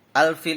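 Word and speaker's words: الفيل: gajah sekawanan gajah nah al-fil ini menurut hukum tajwid ya adalah Alif Lam Qomariah karena ada huruf alif lam bertemu dengan huruf a cara membacanya harus terang dan jelas ya e-trans dan jelas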